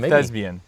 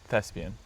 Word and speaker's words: Thespian: Thesbian. Thespian.